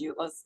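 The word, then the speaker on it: EULA: that so that's how you say it as ulas you you can tell the difference between technical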